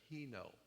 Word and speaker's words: heno: Actually, the word is not monotheistic, it's heno. It's spelled H-E-N-O. Heno.